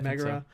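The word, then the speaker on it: Megaera: So I'm building that relationship, but then also Megira, is that how you say her name? Yeah, Megira.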